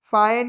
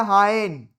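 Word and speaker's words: Fa-Hien: अब एक और इंटरेस्टिंग चीज आ गई, फाइन या हाइन, जो आप इसको पढ़ लो वो आपका प्रोनाउंसिएशन हो जाएगा।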